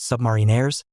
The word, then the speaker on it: submariners: upon the shoulders of submariners, pronounced submarinaires, and they will correct you.